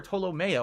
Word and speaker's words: Tolomeo: Is it Tolomeo or Tolomeo? I always forget how to pronounce it. It's Tolomeo.